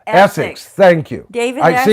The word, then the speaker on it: Essex: That's David Xis. David uh David X. Yeah, now I've said it wrong. I won't remember. Essex. Essics.